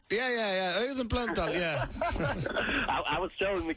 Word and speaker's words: Auðunn Blöndal: Hey, I done blonde, am I saying it right? Yeah, Auðun Blöndal, yeah.